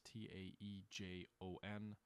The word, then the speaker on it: Daejeon: The Battle of Daejeon, or Daejeon, it's Taejon.